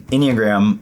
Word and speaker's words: Enneagram: Yeah, I mean, Enneagram, first and foremost, rhymes with pentagram.